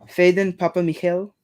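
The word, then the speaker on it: Phedon Papamichael: I looked up the pronunciation for it's Faden Papa Michael.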